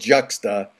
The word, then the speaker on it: Juxta: track by the kick-ass band called juxta Ju XTA did I pronounce it right yes correct adding juxtaposition is that a